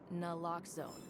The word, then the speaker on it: Nlloxxone: For the record, it's Nlloxxone. N like is Nlloxxone addictive? Nuhuh. Locks like If there's no danger here, I'm needed elsewhere.